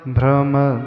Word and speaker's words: भ्रम: line का उच्चारण मत भ्रम ब्रमर नाद वि वृद्ध कोपम मत के बाद भ्रम शब्द है भ्रम ब्रह्म चकि संयुक्त अक्षर होता है संस्कृत श्लोक में